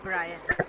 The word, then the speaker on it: Brian: Chaitali, you can be Marissa, and Sheetal, you can be Brian. The pronunciation is Brian.